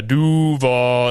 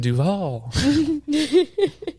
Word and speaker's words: Duval: You put the emphasis on the wrong part, but it's okay. You got to put some bass in your voice. You got to do the Duval. Like, you can't be doing Duval.